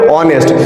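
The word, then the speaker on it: honest: ই এস টি অনেস্ট নয় উচ্চারণ কি হবে অনেস্ট তাহলে কনসোনেন্টের উচ্চারণ হচ্ছে কার মতো ভাওয়েলের মত তাই এখানে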